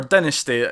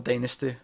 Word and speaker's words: Dynasty: Or Dynasty, depending on how you like to pronounce the word. I don't care either way. I'm more of a Dynasty pronouncer, but, I can see the merit in both.